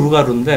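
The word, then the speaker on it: loup-garou: 불어로 루가루인데 원래 불어에서 마지막 자음 보통 발음이 안 돼요.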